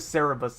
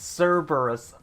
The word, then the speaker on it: Cerberus: yeah I I was I said it wrong I said Cerebus it's Cerberus yeah Koby putting in words